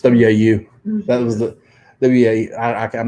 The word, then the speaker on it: Waukegan: There's some silence in there. Silent U's. Don't even trick words. Like WACHEE. It's WAU.